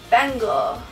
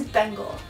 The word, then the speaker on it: Bengal: I'm going to use bengle bangle and fun fact of the day I actually Googled how to pronounce this and it is Bengal so for all of